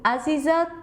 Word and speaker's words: Aziza: Let's listen to Aziza from Indonesia. This is the way I pronounce my name in my native tongue.